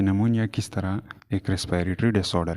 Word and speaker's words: pneumonia: हैं about निमोनिया के नमोनिया किस तरह एक रेस्पिरेटरी डिसऑर्डर है नमोनिया के स्पेलिंग में ये भी साइलेंट होता है और इसको प्रोनाउंस नहीं किया जाता अच्छा तो फर्स्ट ओपल